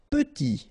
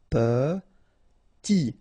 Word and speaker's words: petit: Petit. Okay, remember to pronounce this like a petit. Final T not pronounced. Petit.